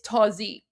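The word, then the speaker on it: تازی: no affiliation with Nazi and it's not pronounced the same way. So it's it's not pronounced Nazi, it's it's tozy.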